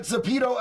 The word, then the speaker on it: Zepeto: JD, I looked up that Zepeto app. Pronounce it, but not with the long E.